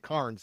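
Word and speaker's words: Cairns: boat and we would we'd leave out of Cans or KS, wherever you however you want to pronounce it. They pronounce it cans. A lot of people pronounce it KS.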